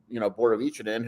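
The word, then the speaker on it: Borovićanin: And there's going to be some guys like Philip or Borovicinen who we didn't hear. Is that how it's pronounced?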